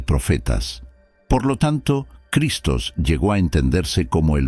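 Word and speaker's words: Χριστός: La clave de esta frase, «Yo soy el Cristo», se pronuncia en griego como «ego eimi o Christos», «ego eimi o Christos». El término Christos se deriva del verbo griego krio, que significa ungir.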